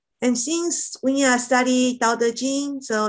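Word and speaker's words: 道德经: So first pronunciation is Dao, which is the fourth intonation. Dao, Dao. And De is going up. De, De. And Jing is flat. Jing is flat. Dao, De, De, Jing. Dao, De, Jing.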